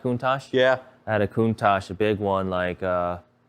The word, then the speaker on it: Countach: Countach?